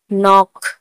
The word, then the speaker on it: knock: नॉक, KNOCK, नॉक, नॉक में भी एन से आगे के है तो नॉलेज, KNOWLEDGE, नॉलेज, नॉलेज ने भी एन से आगे के है तो के साइलेंट होगा।